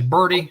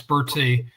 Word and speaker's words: Bertie: They say Birdie. No, it's Bertie.